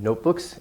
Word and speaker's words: notebook: of potential little problems compound main stress on the first part notebook it's a long vowel it's the O not look not that wouldn't really make sense notebook notebook notebook the main part has more stress and it's a long